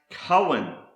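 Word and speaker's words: כהן: Another word that starts with the letter kaf is pronounced Cohen, and this is the Hebrew word for priest, principal officer, or chief ruler, a Cohen.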